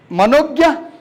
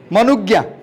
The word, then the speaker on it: Manugya: Then you have Manogya. Is it Manogya? Am I pronouncing correctly? Manugya. Manu or Mano? Because it is spelled M-A-N-O. U. It is wrongly typed.